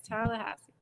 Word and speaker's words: Tallahassee: Wait, Tallahassee. I am pronouncing that right. Yeah. Oh, yes, Tallahassee. Tallahassee.